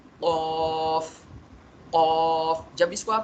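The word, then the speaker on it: ق: क़ क़ क़ क़ाफ़ क़ाफ़। जब इसको आप प्रोनाउंस कर रहे होंगे ना, यहाँ बैक साइड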